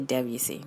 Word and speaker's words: Debussy: So there are some friends of mine that pronounce Debussy as Debussy. Debussy, however you want to say it, I say Debussy. That's just what I grew up saying.